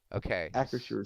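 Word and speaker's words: Acrisure: according to google a creature stadium is it's it's spelled uh a c r i s-u-r-e acresure Stadium okay yeah so that's the new home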